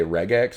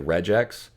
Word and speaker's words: regex: guys some regex and i know some people say regex because it's regular expression but to me it looks like regex because if you have e-g-e it's the soft g sound so i'm just following english standards okay so carrots that